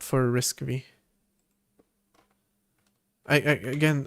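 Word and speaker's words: RISC-V: It's written for arm, not for risk v. I again I always struggle to remember if I'm supposed to pronounce it risk five or risk V.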